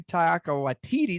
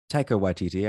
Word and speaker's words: Taika Waititi: Shouts to Taika Waititi. Did I pronounce that right? Taika Waititi, I believe. Taika. Okay. I put the emphasis on the wrong syllable there.